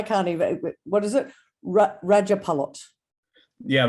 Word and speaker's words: Rajapalot: Rajapalot. Yeah, Rajapalot. J's are spelled pronounced like Y's, so Rajapalot.